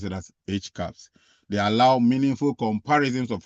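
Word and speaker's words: HCAHPS: to measure patients perception of of hospital experience pronounced as H caps. All right you see all that acronym they have there they pronounce it as H caps.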